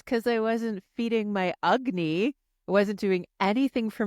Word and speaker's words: Agni: So Agni, it sounds like it should be spelled with a U. It's not. It's actually Agni, Agni, Agni, and it is your digestive fire.